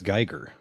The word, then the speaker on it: Giger: Is it Giger? Geer? How do you're How have you heard it pronounced? I've heard it pronounced I've heard it pronounced both ways. I I believe it's Geer.